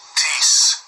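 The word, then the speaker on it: τίς: Tease. Tease. Tease. Looks like test, T-I-S, but it's tease is the way they pronounce it.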